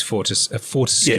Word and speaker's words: Fortescue: Is that how you pronounce that word? Fortescue. It is Fortescue.